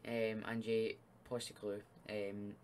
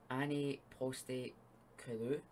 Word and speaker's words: Postecoglou: I didn't think it was going to be much, but so this guy, Ange Postecoglou, Ange Postecoglou, that's how you say it, okay, something like that.